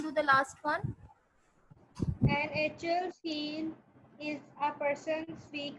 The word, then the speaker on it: Achilles: Okay, the last sentence, first of all we pronounce it as Achilles.